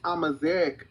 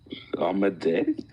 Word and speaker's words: Amazigh: She's Amazigh, not Amazigh. Amazigh. Oh my god. Amazigh. Okay, never mind. That's how they say it.